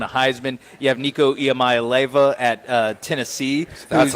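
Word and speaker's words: Iamaleava: who just won a Heisman you have Nico yamay Lea at uh Tennessee that's how you say it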